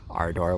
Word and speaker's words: Ardor: I could have read, I'm reading Ada or Ardor. I should pronounce that correctly because Nabokov would be furious with me. Ada or Ada. Ardor with the long ah sound.